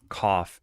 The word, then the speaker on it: cough: But then cough, you can't say that the GH is silent. It just doesn't make a G or an H sound. You would spell this like cough if you were to spell it like a normal person.